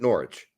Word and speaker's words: Norwich: I'm an American and I see the W and I pronounce the W well I'm doing it on purpose I know that people pronounce it Norwich I like putting the